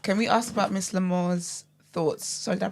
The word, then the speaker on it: Lamour: j just ask can we ask about Miss lamore's thoughts sorry did I pronounce that right did I pronounce your name right yeah M lore okay yeah can we ask about Miss lore's